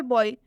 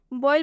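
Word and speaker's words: boil: आया हुआ next example बॉईल बॉयल में भी ओ है और आई है इन दोनों ओ आई का उच्चारण किस चीज से होगा ई से होगा कैसे ई से होगा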